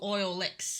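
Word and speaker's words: Oilix: oil X because I so it's it's spelled o i l iix and it's a apparently derived from oil and mix so oil licks gu oh okay okay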